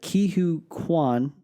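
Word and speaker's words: Ke Huy Quan: who we haven't seen since Indiana Jones, and his name is forgive me if I pronounce this wrong. I think it's Ki-Hu Kwan.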